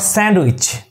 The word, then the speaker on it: sandwich: You have to pronounce it like way, Wednesday. It's your Wednesday. Wednesday, D silent. Wednesday. Not sandwich.